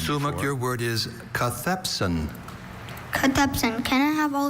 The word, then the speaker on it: cathepsin: your word is Cathepsin.